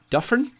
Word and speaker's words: Duffren: Duffren, I pronounced, switching the Y to a more tight e sound.